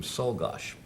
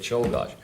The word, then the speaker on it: Czolgosz: unfortunately told me that the family pronounced the name Solgosh, and we got through this whole show pronouncing it Czolgosz.